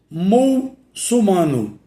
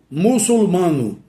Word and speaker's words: muçulmano: Exemplo, muçulmano. Mu com L, M-U-L, sumano. Essa forma aí é incorreta. Qual é a forma correta? Muçulmano. M-U-C-U-L-M-A-N-O. Muçulmano. Muçulmano. E não muçulmano.